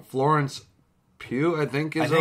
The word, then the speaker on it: Pugh: And forgive me if I pronounce her name wrong. Florence Pugh, I think, is her last name. I think it's Pugh, yeah.